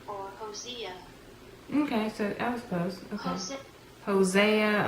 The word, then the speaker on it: Hosea: word see if I was anywhere near closed Hosea or osya okay so elbows closer Hosea a home Zia okay all right so it was right there Hosea Hosea okay all right so we took that apart